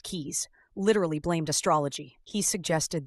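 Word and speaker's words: Caius: Famed physician John Cais pronounced keys, literally blamed astrology.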